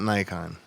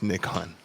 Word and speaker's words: Nikon: That's how you pronounce Nikon. It's not Nikon. It's Nikon.